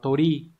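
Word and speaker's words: 鳥: Đây, chữ điểu sẽ đọc là tori.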